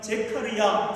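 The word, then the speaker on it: זכריה: 이 스가랴라고 하는 이 이름을요, 히브리어 발음으로 그대로 말하면 제카르야라는 단어입니다. 제카르라는 뜻은요, 기억하다라는 뜻입니다. 생각한다, 그리고 은혜를 베푼다라는 의미입니다. 그리고 야라고 하는 단어는요, 여호와 하나님이라는 의미입니다. 그렇다면 제카르야, 스가랴는 어떤 뜻이죠?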